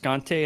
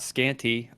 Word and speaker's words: Scante: my name is scante it is pronounced scante and not scanty uh spoiler alert for